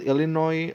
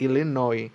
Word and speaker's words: Illinois: then uh it's just it doesn't pronounce the s for whatever reason other Florida or Florida